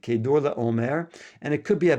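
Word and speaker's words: Chedorlaomer: And just to mention, this name is Kedar La Omare, but we pronounce it Kador la Omare.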